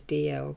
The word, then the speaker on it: Dalziel: It's actually, the pronunciation is DL, but I use it is sort of spelt Dalziel, D-A-L-Z-I-E-L.